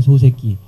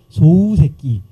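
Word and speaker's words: 소세키: 그래서 소새끼라고 그러지 말고 소새끼를 발음할 때는 웃자를 하나 더 살짝 집어넣어서 소우새끼 이렇게 발현해 주시면 훨씬 더 그런 발음에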